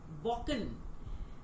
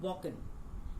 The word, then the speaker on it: Balkan: Now, the word Balkan, yes, you heard right. I'm saying Balkan because this is the right pronunciation. L is silent here, so this is Balkan.